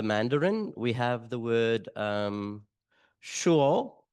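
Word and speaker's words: 说: In the Chinese, the Mandarin, we have the word shuo. I try to get that correct. I know it's an H, but it's a long O sound, and then with an A at the end.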